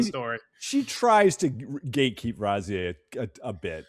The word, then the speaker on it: Razieh: She tries to gatekeep Razieh a bit, right?